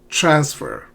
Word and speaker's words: transfer: Transfer. Not transfer. Transfer.